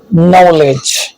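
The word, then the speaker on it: knowledge: है के साइलेंट ए से पहले आने वाला के साइलेंट होता है जैसे knock no knife नॉलेज silent F के एम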